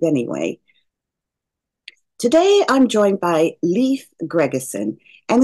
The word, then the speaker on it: Leif: happiness and achievements we learn from all of it I believe anyway today I'm joined by leaf Gregerson and it is pronounced Leaf it's not Lea like